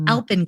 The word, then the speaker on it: Alpyn: things to me so the brand name was alpen Beauty after alpen glow and then it's spelled with an e but we made it